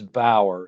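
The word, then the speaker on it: Bauer: another guy with b-a-u-e-r and his name is bower so I figured ours n-a-u-e-r-t is now art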